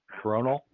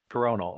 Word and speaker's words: Coronal: Ed, I always have to ask how to pronounce that. CORONAL? You did it correctly. Thank you. CORONAL.